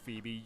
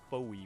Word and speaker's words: Phoebe: Elite Four, which was Phoebe, the Ghost-type trainer, whose name I always used to pronounce Foe when I was little because I was just that dumb.